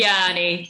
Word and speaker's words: Tianyi: Did I pronounce Tianyi's name right? Is it Tianyi? Tianyi. Yeah, there's many versions, but Tianyi is the easiest one.